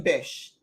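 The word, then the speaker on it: Bisch: you Pat laughs so the perfumer for Florida orange is Quentin Bish or b-i-s-c-h and the top notes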